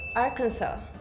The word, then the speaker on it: Arkansas: contest Oh Arkansas because it sounded more American Arkansas I can no that was good oh really